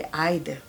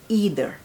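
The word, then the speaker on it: either: आइदर नहीं कहेंगे, आइदर, and American में कहेंगे ईदर। और यहाँ मैं जब क्लास में भी कहती हूँ आइदर because I am from Pakistan, सो मेरा जो है ना वो ब्रिटिश प्रोनाउंसिएशन पे ज़्यादा, तो मेरे स्टूडेंट्स अक्सर मुझे कहते हैं मिस आइदर और ईदर, कहते हैं ईदर, बोथ आर एक्सेप्टेबल, ठीक है।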